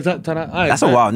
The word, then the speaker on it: Ta-Nehisi: Yeah, how do you say it? I don't know how to say his name. Tallahassee? Ta-Nehisi, yeah. Oh, it's like Ta-Nehisi.